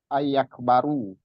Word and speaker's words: يكبر: Ayakbaru. Oh, ayakbaru. Ya. Meskipun kita berhenti di situ, ayak baru juga dibacanya.